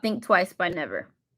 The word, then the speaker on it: NVR: It's just spelled NVR, but it's pronounced Never. So, artist name is Never.